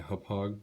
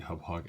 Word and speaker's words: Hauppauge: Alright guys, this is a review of my Hauppauge, I believe that's how it's pronounced, HD PVR.